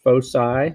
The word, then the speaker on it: foci: Plural of focus is foci or foci. So F-O-C-I is the plural of focus. So we have one focus or we have two foci or foci. You can pronounce it either way.